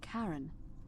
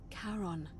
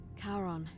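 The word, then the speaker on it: Charon: you described it only your pronunciation is a little off the name you heard wasn't Karen it was c h a r o n as in Caron the ferryman of the Dead karon who in exchange for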